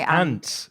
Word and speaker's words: aunt: words especially for pronunciation so aunt is your what do you say a my antt your ant I say ant uhhuh interesting I was going to say I'm from the north I'm from the north I was going to say rhymes with car and far an but your yours rhy rhymes with with um rant and and p and